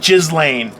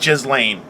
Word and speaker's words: Ghislaine: I think they're I believe it's pronounced Ghislaine. That's what it's definitely pronounced Ghislaine.